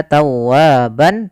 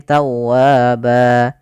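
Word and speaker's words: تَوَّابًا: berubah menjadi panjang ba kalau kita wakaf bukan lagi kita baca tawwaban Tapi tawaba nah kemudian hati-hati Jangan memanjakkan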